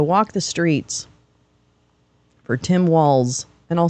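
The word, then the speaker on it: Walz: the streets for Tim Walls and I'll say his name right it's not Waltz it's walls there's a nice picture of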